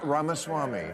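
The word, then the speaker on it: Ramaswamy: other Donna I'm is it VC ramasama ramasami ramaswami thank you so much I learned so much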